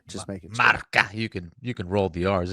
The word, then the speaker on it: Marca: Did I pronounce that right? The Spanish magazine? What is it called? Marca? I think that's correct. Yeah. Okay. All right. Just making sure. Marca.